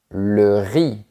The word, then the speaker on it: riz: Z, le riz.